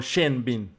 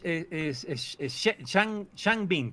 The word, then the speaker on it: Shang Bin: ¿Es el doctor Shang Bin o Shen Bin? Es Shang Bin, perdón, ¿Shang?